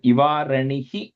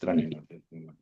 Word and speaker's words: ivaranihi: Anandji, that ivaranihi, I think you stretched it a little bit. It's just a short e at the end. Okay, just ranihi.